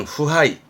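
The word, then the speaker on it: 腐敗: 발음은 후하이.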